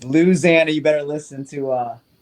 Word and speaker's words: Louisiana: did say Louisiana which me is the right pronunciation of how you say that state it's not Louisiana it's Louisiana you better listen to uh what's his name